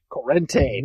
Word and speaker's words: Corrente: Corrente, thank you. Thank you. Yes, as our mispronunciation on this show continues, a streak that has lasted 35 shows.